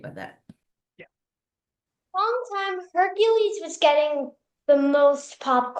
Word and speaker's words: Heracles: yeah I mean her Hercules the actual uh the Greek pronunciation is Heracles and that literally means